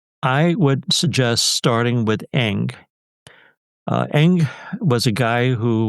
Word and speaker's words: Ng: I would suggest starting with Eng.